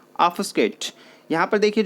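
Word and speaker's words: obfuscate: यहाँ पर देखिए जो बी है वो बहुत हल्का साउंड करता है और एफ से पहले थोड़ा सा हल्का साउंड होने की वजह से उसका साउंड नहीं पता लगता है कई बार। तो जब आप इसे प्रोनाउंस करेंगे तो वो ऐसा प्रोनाउंस होगा ऑफस्केट, ऑफस्केट, जिसका मीनिंग क्या हो गया?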